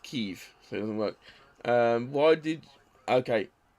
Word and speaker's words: Kyiv: It's like everyone's calling it Kiev for so long. It's actually Kyiv, not Kiev.